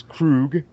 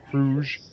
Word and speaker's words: Kruge: As Krug. Or Kruge, depending on how you pronounce it.